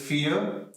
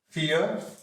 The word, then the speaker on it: vier: So here V is pronounced as F. So it is vier, then fünf, vier, fünf, then sechs, sechs.